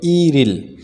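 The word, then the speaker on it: 일일: তাহলে ইল ইল যুক্ত করলে 1 তারিখ, যেটা সঠিক উচ্চারণ হবে ইরিল। এই রিউলটা ইয়ংয়ের জায়গায় চলে আসবে।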